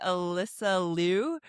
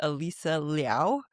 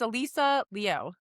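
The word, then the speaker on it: Alysa Liu: the actual pronunciation is Alisa Liao which is Yeah. Which is the Chinese version. Alisa. I just said Alysa and I'm like, "Oh, wait. No, no, that's wrong." So, it's Alisa Leo.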